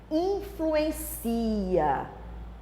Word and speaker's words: influencia: Influencia. Porque eu tirei o acento, a sílaba tônica mudou, né? Veio para o final. Cia, influencia.